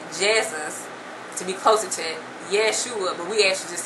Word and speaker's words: Yeshua: and the next letter letter in Yeshua is the S sound but actually um in Hebrew it would be an sh that's the Hebrew sheen sheen but um Greek the